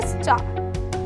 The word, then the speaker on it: star: एक और एग्जाम्पल देती हूँ, अगर मैं बोलूँ STAR, तो आप बोलोगे स्टार, पर उसमें हम रा नहीं बोलते और बहुत ही स्लाइट आता है रा, तो हो जाता है स्टार।